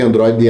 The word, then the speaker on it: Android: Android, então, na verdade, Android não, porque Android ela é paroxítona, né?